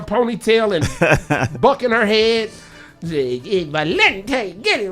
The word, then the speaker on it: Valente: Yeah, she said it's Valente or something like that.